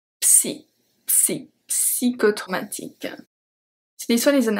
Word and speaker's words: psychotraumatique: Psychotraumatique. And yes, in French we pronounce the P. Psy. Psy. Psychotraumatique.